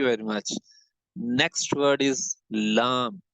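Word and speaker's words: ل: So lam has to be pronounced when this part got the same makharij as the ra with the same volume of the tongue will has to be taken here.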